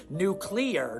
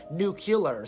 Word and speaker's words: nuclear: human species and I said well it's actually pronounced nuclear not nucular so they're actually totally safe and fine and